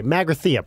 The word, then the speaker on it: Magrathea: Oh, Barry, Magrathea, please. Let's pronounce things correctly.